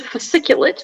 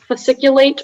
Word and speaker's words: fasciculate: all the information sure so the word is fasciculate but it can also be pronounced fasciculate or fasciculate it's an adjective from